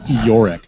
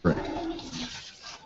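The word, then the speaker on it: Iorek: And I just want to clarify, it's Yorick, not Rick. I said Yorick. It's Eeyore-ek. Yorick, not Uric.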